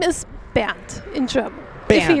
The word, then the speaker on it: Bernd: The German pronunciation, Bernd. Band. Yes. Like band? Like rubber band? No. That would be a little bit different.